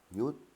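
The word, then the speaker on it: หยุด: Yut, arrêter, avec ron hip devant. Donc ça se prononce yut.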